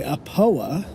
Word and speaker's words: Aopoa: all um manufactured by apoa i believe that's how you say it a poa it is an